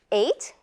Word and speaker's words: eight: rest of the words eight like the GH is not there enough f very well